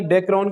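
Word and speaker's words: Dacron: आपको पूछा था कि डेक्रोन की मोनोमर यूनिट क्या है, इथाइलिन ग्लाइकोल और टेरिथैलिक एसिड। P साइलेंट है इसमें, ठीक है बच्चे।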